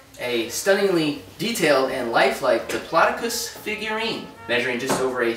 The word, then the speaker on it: Diplodocus: Okay, Jason, it's pronounced Diplodocus. We went over this. Like I was saying, this Diplodocus. Jason, it's Diplodocus.